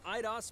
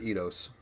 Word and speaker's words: Eidos: So let's kick off with the world premiere of a brand new game from IDOS Montreal. IDOS. We hope you enjoy the show. I always pronounce it Eidos. I'm a fool.